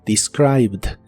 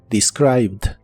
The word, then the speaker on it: described: termina con e d Aunque solo se pronuncia la d described described en el pasado la